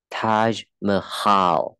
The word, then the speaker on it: Taj Mahal: Hindi, đọc là Hindi, okay. Tiếng Hindi, tiếng Taj Mahal, ja.